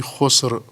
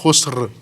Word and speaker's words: خسر: ان الانسان لفی خس، خس نہیں ہے بلکہ آگے رے بھی ہے، وہ بھی تلفظ ہونی چاہیے، ان الانسان لفی خسر، رے خس نہیں، خسر، رے تلفظ کریں ساتھ۔ انسان خسارے میں ہے،